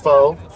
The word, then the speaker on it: Focht: name so people aren't confused last name is pronounced foe fo spelled f c h fued yeah fit